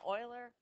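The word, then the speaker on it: Euler: BC you'll have an Oiler you'll have Arc Length no it's pronounced Oiler yep okay um what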